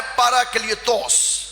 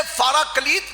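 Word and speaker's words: παράκλητος: अब जो दूसरा मददगार है, इसके लिए जो यूनानी जुबान में अल्फाज इस्तेमाल किए गए हैं वो है पैराक्लियतोस। पैराक्लियतोस बख्शूंगा, इसे फाराकलीत भी कहते हैं, पाराकलीत भी कहते हैं।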